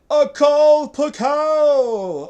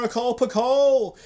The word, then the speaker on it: Akal Pakal: So, for you today, my friends, we have Akal Pakal, or Akal Pakal, which I think would be better because it rhymes.